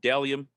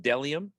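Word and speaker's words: Bdelliom: sponsor boom right there dellium clothing spelled b-d-e-l-l-i-o-m pronounced dellium even though there is a b at the beginning i know but it's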